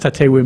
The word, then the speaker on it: Tatewin: It's not TATEWIN, it's TATEWI. But it's great to have you here today, and welcome to TATEWI and Debbie, who is with her and accompanying her.